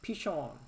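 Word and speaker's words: פישון: 비손이라는 단어의 이름은 히브리어로는 피션이라고 발음을 합니다. 피션.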